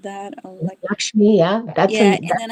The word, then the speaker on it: Lakshmi: I the word I'm not sure how to pronounce lakshimi like something like that lakshmi.